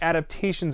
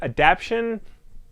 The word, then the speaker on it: adaptation: in this day and age are comic book adaptations of movies necessary before we go on